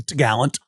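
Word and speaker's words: topgallant: And the top mast is called the top gallant, but they call it the t'gallant.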